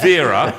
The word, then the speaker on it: Veira: it's not as if you've got a name that is easy It's to pronounce. It's exactly the same V-E-I-R-A, as you. Vera.